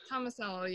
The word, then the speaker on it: Tomasello: Is that how you pronounce it, Tomasello? Tomasello, yeah.